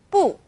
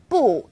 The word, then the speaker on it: 不: In this case, 不 is special. It's an exception in the world of fourth tones.